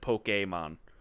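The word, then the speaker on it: Pokémon: I always saw like I saw the the accent on the e and I always made sure I said poke a mom ok mod ok mom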